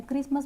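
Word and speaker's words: Christmas: same है कि catch क्रिसमस यहां पे हम टी को मतलब प्रोनाउंस नहीं करते क्रिसमस बोलते हैं लिसन यहां पे भी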